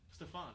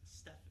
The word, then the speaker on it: Stephen: Did I pronounce his name right? Stephon. No, it's Stephen. I say it's Stephon.